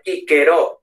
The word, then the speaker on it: Cicero: Entonces, por ejemplo, el famoso Cicerón, que en español decimos Cicerón, los italianos dirían Cicerone, pero en latín clásico sería Quiquero, o sea, Quiquero, ¿no? Quiquero, Quiqueronis, ¿vale? Entonces, cuidado con eso.